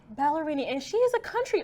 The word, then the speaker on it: Ballerini: How do you say her last name? Ballerini. Ballerini.